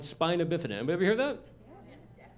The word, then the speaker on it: spina bifida: Now, it's pronounced spina bifida, and the reason I say that is because